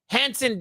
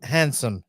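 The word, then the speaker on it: Hansen: It's handsome, damn. It's not handsome. It's fucking Hanson.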